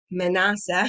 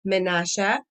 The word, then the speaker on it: Menashe: ephraim and menashe okay so menassa in english that's the way it's printed out here i'm probably going to end up saying in the hebrew pronunciation menasha is great great great